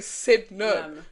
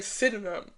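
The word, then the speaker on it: Sydenham: It's Sidnum. They said no. That's what I'm saying. I'm saying no. I'm saying Sidnum. You're saying Sidenham. Yeah, they Yeah, you don't need to pronounce You're not from here.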